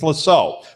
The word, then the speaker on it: Lascaux: Spell it. I know what they are. I just can't say it. Lascaux. Lascaux. It's Lascaux.